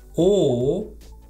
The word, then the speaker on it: ou: For example, eu leio ou escrevo. I read or I write. Eu leio ou escrevo. How do you pronounce it? Ou. To me, it sounds like you're saying, oh.